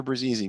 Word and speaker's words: Brzezi: Brzezi. Brzezi. So if you Brzezi. punch me, I bruise easy.